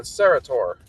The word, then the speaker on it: Sarratore: we got uh Mr Andrew how do you pronounce your last name uh serator okay I I I I was very close